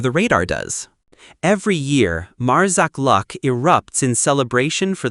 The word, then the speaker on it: Marsaxlokk: Welcome to Marsaxlokk Lock, pronounced Marsaxlokk, Malta's most Instagrammable village and a living postcard of Mediterranean charm.